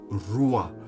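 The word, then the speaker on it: רוח: सो the word रुआ, so when you pronounce it also, it is like ruah, as if you are breathing।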